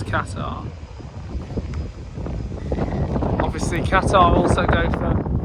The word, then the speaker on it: Qatar: because obviously um Oh, there's Qatar or is it Qatar? Well, obviously they pronounce it as Katar.